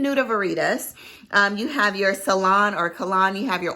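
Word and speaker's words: Calone: It smells a little fruity because I think it's pronounced Ceylon, it's C-A-L-O-N.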